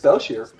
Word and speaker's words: Belshir: It's just Belshire. Yeah, Belshire. Yeah, if it was Shire, there'd be an E at the end.